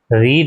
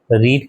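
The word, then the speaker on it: read: Being रीड है तो रीड का क्या हो जाता है? रेड। रीड की थर्ड फॉर्म क्या है? रेड। स्पेलिंग सेम रहती है। प्रोनाउंसिएशन बदल जाता है।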